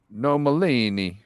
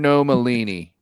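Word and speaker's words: Nomellini: i n i nemacello no Malini no Malini no no he was Italian normally think of tortellini but a gnome like a garden no Malini was it all NFL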